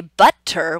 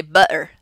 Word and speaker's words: butter: We never say button, we say button, button, button. Okay, so it's this really unique sound that we don't see it all the time, but we usually are using it to replace the T sound.